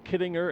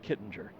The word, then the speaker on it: Kittinger: those who call it kidding her and there are those who call it Kittinger and I've asked Joe and he pronounces it Kittinger just for the for